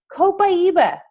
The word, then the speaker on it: Copaiba: Copaiba. That's how you say it, by the way. Pie in the middle, Iba. It's awesome.